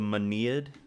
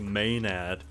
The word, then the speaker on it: Maenad: It is pronounced the Manead. Oh, the Manead? I've been butchering the pronunciation, and I'm over here calling it the Maenad. Ready to save the world. And it's actually Manead.